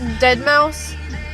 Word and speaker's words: Deadmau5: It's to Deadmau5. It's spelled differently.